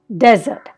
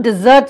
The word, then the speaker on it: desert: that sandy hot place we call it a desert desert a zur sound but you can also desert somebody desert somebody so it's still a zed sound but there's an emphasis rajasthan is a desert